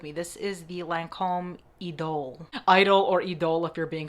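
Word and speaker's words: Idôle: This is the Lancome Idol or Idol if you're being fancy. I think Idol is actually the right way to say it based on the ad that I saw on television.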